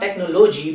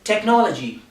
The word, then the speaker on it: technology: like to tell you it is not technology because normally people make this mistakes and they say this word like technology but this word is technology so how do we